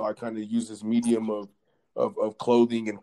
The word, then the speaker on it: Merci: means thank you in French and the correct pronunciation is uh Medi but uh we Americanized it to make it